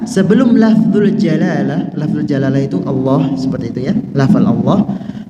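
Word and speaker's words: الله: pembahasan khusus di belakang perhatikan tasdid pada lafal Allah karena bermudah-mudahan dalam pengucapannya dapat mengakibatkan hilangnya satu huruf lam jadi tasdid itu Gabungan dua huruf Ya seperti ini Allah berarti alif lam lam ha alif lam lam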